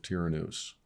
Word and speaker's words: Tyrannus: Royce actually brought up something that I've kind of taken hold of, which was the School of Tyrannus.